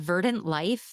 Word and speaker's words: Verdant Lyfe: So I went online looking for carnivorous plants near me, and I found this really cool plant shop called Verdant Lyfe. That's Life spelled with a Y.